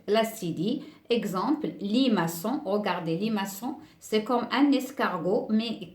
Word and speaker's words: maçon: exemple limaçon regardez les maçons c'est comme un escargot mais qui n'a pas de coquille et si on ne met pas la silice ça va se prononcer les Macon donc on a ajouté l'acide